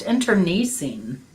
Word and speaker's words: internecine: It's pronounced internecine.